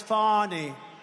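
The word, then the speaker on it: Fani: it fonny it's called Fanny you have to pronounce fonny I don't know how she get she should add a little u in there someplace if she wants people to call her now her and her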